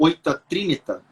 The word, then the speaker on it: Oita Trinita: você voltou para o Japão, né, para o Oita Trinita, é assim que Aham, se fala a pronúncia, no Oita Trinita, e assim, você ficou